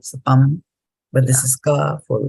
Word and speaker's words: cāpaṁ: So, for example, after this M, there is no A in this line, right? So then pam. It is not pama because there is no A there, right? So pam.